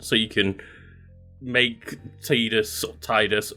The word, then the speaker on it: Tidus: go nope no no nope it's pronounced Titus then we have here